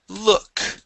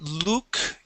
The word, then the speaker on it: look: go to the word look um so instead of Luke it is look and right here so